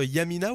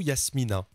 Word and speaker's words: Yamina: Alors, ça se prononce Yamina ou Yasmina? Non, Yamina.